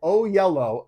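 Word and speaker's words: Oyelowo: how to say it it's yellow with an O at the beginning and an O at the end oh yellow okay I'm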